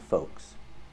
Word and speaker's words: folks: two words yolks and folks with both words we do not pronounce the L the L is silent in both words yolks are an eggs